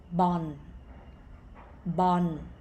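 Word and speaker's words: บอล: sound has no no sound this word is pronounced bon bon which is ball in english okay and now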